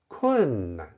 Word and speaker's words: 困难: This word can be pronounced with a neutral tone in many situations. 困难.